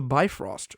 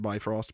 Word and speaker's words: Bifrost: to extinguish the mist so i know that some people also pronounce it defrost so i'm sorry i'm not meaning to be disrespectful i've always heard it said by frost personally uh so yeah